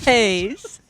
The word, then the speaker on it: matte: Not okay, well phonetically Sorry. it's mattes.